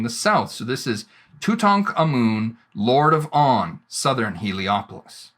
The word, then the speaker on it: Tutankhamun: So we can sound this out, Tut, Ankh, Amun.